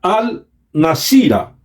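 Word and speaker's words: الناصرة: de la palabra Nazaret en árabe se pronuncia al nacida en hebreo y es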